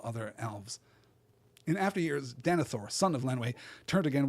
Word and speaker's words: Denethor: And I think it probably shouldn't be pronounced Denethor. It should be pronounced Denethor, right? We're supposed to give it that, like, second syllable accent that we give to elven names, right?